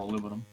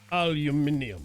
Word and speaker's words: aluminium: Could do steel or aluminum. Aluminium, good sir.